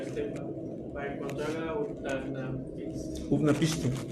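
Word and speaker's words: Utnapishtim: Utnapiste. Ah, bueno, se pronuncia utnapiste.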